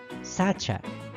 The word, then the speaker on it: sacha: pero Cómo se pronuncia se pronuncia Sacha es decir si a esta palabra la dividimos en sílabas la mayor fuerza de voz recae en su penúltima sílaba Pero qué pasa si